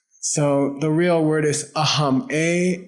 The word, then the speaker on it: aham: So the real word is aam. A h a m. Aam means me. Okay. It's the Sanskrit for that's me. Okay. Aam.